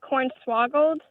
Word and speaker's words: cornswaggled: Are you saying cornswaggle or cornswaggled? We say it like cornswaggled.